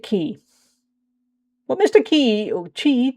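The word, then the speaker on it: Qi: Oh no, he didn't realise that we've cheated. Never mind. It's fine. He doesn't know. But just nobody tell him. Most people say Mr. Cheat. Fair enough. Oh, I pronounce it Key.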